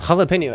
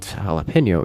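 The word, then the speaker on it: jalapeño: an English word and we don't pronounce it as an English word we pronounce it as a Spanish word because it is a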